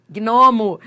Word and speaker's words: gnomo: Gnomo, gnomo, gnomo. É só pronunciar. Você vai ver que você pronuncia os dois.